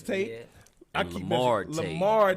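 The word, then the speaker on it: Lahmard: Lamar Tate. Yes, sir. The H is silent.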